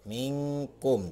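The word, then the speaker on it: منكم: Nah, ini akan dibacanya samar atau berbunyi eng. Jadi cara membacanya adalah minkum. Jadi seperti itu, minkum, ya.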